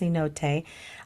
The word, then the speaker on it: cenote: cot which is uh spelled c n o t pronounced Cote I don't know what